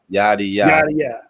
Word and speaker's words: Yaddiya: So just so I got it right, can you tell me how to correctly pronounce the name? Because I definitely don't want to mess it up. Yaddiya.